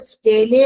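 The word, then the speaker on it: stele: देखो single layer of parenchymatous pericycle is present below the endodermis which bounds the स्टेले और vascular cylinder स्टीली इसको pronounce करते हैं स्टीली।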